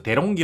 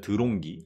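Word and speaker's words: De'Longhi: 메이커는 들롱 끼가 있습니다 일본에서 대롱 기 라고 하죠 한국에서 드롱기 라고 합니다 드롱기 한국에서는 초콜렛을 말하는 발음이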